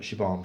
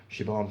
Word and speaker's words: Siobhan: obviously you've got uh Siobhan finneran um it's pronounced chiffon I always look at it as sire bomb Siobhan finneran Michelle Holmes George